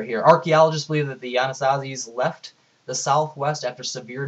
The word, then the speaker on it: Anasazi: You have no idea how to pronounce it. You hit the submit. Anasazi. So I told me how to pronounce it in a nice British accent. Let's listen to him again. Anasazi.